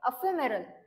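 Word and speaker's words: ephemeral: बघूया next word आहे अफरल प एच एम आर ए याच प्रोनन्सशन कस आहे तर अफेरल याच प्रोनन्सशन आहे मिनिंग काय आहे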